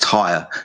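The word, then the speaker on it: Týr: So it's pronounced tire.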